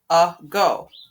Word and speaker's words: ago: a long time ago, ago. My first syllable is my second syllable is go. Go. My second syllable is open, but my first syllable looks open, but in reality it's a schwa, so we have an open exception.